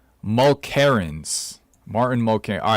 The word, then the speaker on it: Mulkerrins: Mulkerrins.